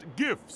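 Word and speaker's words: GIFs: then have super strikas Jeffs they're called Jeff's coach actually it's pronounced gifts who cares those memes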